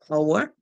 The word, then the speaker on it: hour: This is a word where the H is silent.